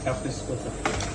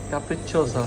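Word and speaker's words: capricciosa: কাপ্রিসকো, কাপ্রিসকোসা আবার একটা কাপ্রিসকো, কাপ্রিচোসা, কাপ্রিসকোসা আবার একটা সোসা, চোসা। সোসা তো সি উচ্চারণ প্রথম যে সি হ্যাঁ, আর এরপরে ডবল সি হলে সো কাপ্রিচো, চো ছো চো, কাপ্রিচোসা।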